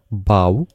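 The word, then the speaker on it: bough: প্রথম যেটা সেটার উচ্চারণটা কিন্তু হবে এইটা টাফ, এর পরের এইটুকুর উচ্চারণটা হবে বাউ, এটা হবে কাফ, এবং এখানে যেটা এটা হবে ডো মানে হলো ময়দা।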